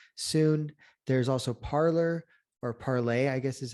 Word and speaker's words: Parler: There's also Parler, or Parlay, I guess is how it's actually supposed to be pronounced.